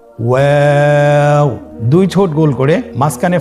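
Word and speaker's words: واو: আমরা স্ক্রিনে দেখতে পাচ্ছি ওয়াও হরফটি উচ্চারণের ক্ষেত্রে বারিক হবে এবং 3 আলিফ টেনে পড়তে হবে। আপনারা আমার সাথে বলুন ওয়াও। ওয়াও।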